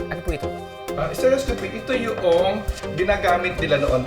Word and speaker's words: stereoscopy: Pronunciation. Stereioscopy. Ano po ito? Ah, stereoscopy.